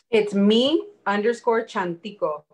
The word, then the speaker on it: Chantico: It's me_Chantico. It almost sounds like a CH, is how we pronounce it. It's a Nahuatl word.